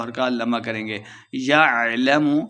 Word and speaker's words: يعلم: حرکات لمبا کریں گے۔ یعلم لمبا بالکل نہیں کرنا، عین کو تلفظ سے پڑھنا ہے۔ اذا بعثر، بعثر سا